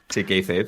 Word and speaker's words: kayfabe: Yo, cuando preparamos el episodio de Wrestling for Dummies, yo conocí ese canal y toda su playlist del Kayfabe, ¿cómo se pronuncia? Sí, Kayfabe, sí.